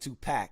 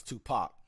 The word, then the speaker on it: Tupac: That's why I said put a pin in it, because he told that man it ain't Tupac, it's Tupac. But you couldn't even pronounce that word, buddy.